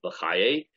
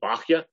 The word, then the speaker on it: Bachya: We saw the Rabbeinu Bachaye or Rabbeinu Bachya, right? People pronounce it different ways.